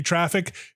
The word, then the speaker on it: Traefik: All my port 80 and port 443 traffic goes into Pi-hole and into Traffic. I know I'm saying traffic and traffic. They're spelled differently, but like Traefik, to be clear, is how the reverse proxy is spelled.